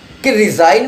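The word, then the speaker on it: resign: बोलने में फर्क है रिजाइन में आप जी नहीं ले सकते लिखेंगे जरूर साइलेंट हो जाएगी लेकिन आप रेजिग्नेशन के अंदर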